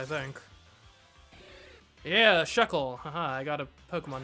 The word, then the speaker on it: Shuckle: get the next Evolution so I can stop mispronouncing this name honestly come here chuckle think yeah Shuckle ha I got a Pokemon name right yeah